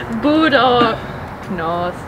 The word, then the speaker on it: budoucnost: Yeah, and you have to always emphasize the first syllable.